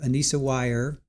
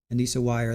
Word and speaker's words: Weier: Here is day one of Ana Wire. Anisa wire. That's the way they're pronouncing it. Ana wire.